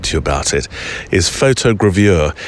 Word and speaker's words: photogravure: you about it, is photogravure. It's only taken me a month to get that word right. Up to this moment, I've been pronouncing it as if it's a Swiss cheese.